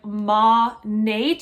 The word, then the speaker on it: Monat: on how to pronounce monet monet monet monet it's modern nature but like squished together so like ma nate is how i pronounce it i figure that's the